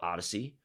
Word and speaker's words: Oddysee: Right, so that's another big point around this technology that we're launching, and the technology is called Odyssey.